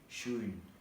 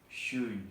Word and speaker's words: schön: Lalu untuk yang O umlaut panjang di sini dapat diucapkan sama seperti O pendek, tetapi O umlaut pendek tapi lebih panjang. Jadi schön. Jadi kan schön gitu. Jadi schön itu cantik artinya.